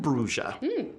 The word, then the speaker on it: Brugia: Her name Bruja? Yes, her name is Madame Brugia. Rhymes with. Nothing. There's nothing that rhymes with Brugia.